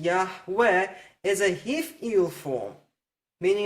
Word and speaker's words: Yahweh: And just keep in mind, I'm not questioning the pronunciation Yahweh. I've already shown you Yahweh cannot contract to Yahu, and this comments in Yah and Yahu demand that we have a patach as the first vowel in the Creator's name.